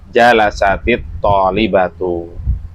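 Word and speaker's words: جلست الطالبة: Kalau mau terjeman bebas, perhatikan penjelasan berikut ini, yaitu jalasat at tholibatu. Jalasat itu diakhiri sukun, depannya bertemu dengan sukun yaitu alif lam. Maka cara bacanya jalasatit tholbatu.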